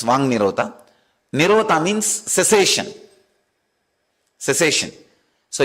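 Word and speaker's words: वाङ्निरोध: That is what is called Vang Nirodha. Vak Nirodha only, when you pronounce it becomes Vang Nirodha.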